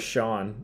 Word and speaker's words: Chone: Yeah, it says Sean.